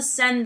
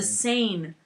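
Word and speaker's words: Seine: about the town thing mispronounced all the names everything they called the sen the sen or the no no they called the sen the sane i'm like are you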